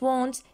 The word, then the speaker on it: want: So, I don't want, you don't want, we don't want, they don't want. Perfect. Now here, look at the word want. كنا نطلع على كلمة want. Want here, A, we pronounce it like O, صح؟